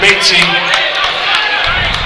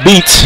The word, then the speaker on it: Baty: will replace IA Andrew baty Well the announcers calling it baty but his name's pronounced beats back in for